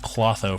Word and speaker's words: Clotho: I thought that said Clotho for a second. Yeah, it's Clotho, I believe.